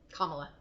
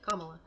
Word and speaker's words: Kamala: Okay, Kamala. Sorry, I said her name wrong. Kamala.